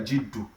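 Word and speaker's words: جِدُّ: We can also talk of something like Jiddu. Jaddu is different from Jiddu. Jiddu means seriousness. So Jiddu means seriousness, while Jaddu means grandfather.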